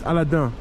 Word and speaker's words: Aladin: you know check out Aladin if you uh if you haven't Aladin Aladin excuse me in French it's aladan so aladon treasure Treasures